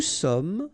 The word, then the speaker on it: sommes: Nous sommes, final S not pronounced.